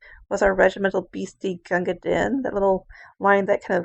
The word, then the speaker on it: Din: it goes crew new, and din, which is supposed to rhyme with queen.